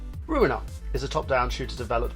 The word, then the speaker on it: Ruiner: It rhymes with what I exactly say to your girlfriend last week. You know the term. I'm gonna ruin her. Get it? Ruin. Because the game's called Ruin. Ruiner is a top-down shooter